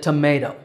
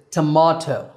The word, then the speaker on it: tomato: is another vegetable that tomato actually that's the American pronunciation the British pronunciation is tomahto now in the pronunciation